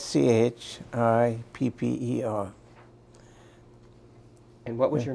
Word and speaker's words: Schipper: English can you please state your name and spell it for us my name is shipper s c h i p p e r and what was your name at Birth the